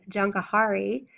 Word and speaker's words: Jahangir: Faith, and the name Jankahari, Seizure of the World. Jankahari is spelled Jahangir.